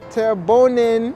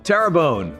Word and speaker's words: Terrebonne: a wachita parish a wachita parish turban parish terrebonne terrabone parish tarabani terrebonne terrebonne parish just southwest of new orleans houma thibodeaux